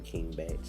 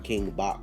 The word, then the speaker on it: King Bach: I still don't understand why his name King Batch. Like before I knew who he was, I used to call him King Bach because his name is spelled like Bach, like the composer.